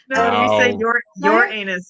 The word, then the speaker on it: Uranus: um had just discovered Uranus Uranus that's how the Americans say it isn't it your anus that's that's how we do it yeah my anus your